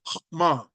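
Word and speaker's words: חכמה: you you probably didn't pick it up it's pronounced HMA yes and it is the word that is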